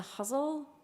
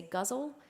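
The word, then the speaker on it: ghazal: it's pretty versatile um is the huzzle some people say guzzle um that's pronounced or spelled g h a z a l it is an Arabic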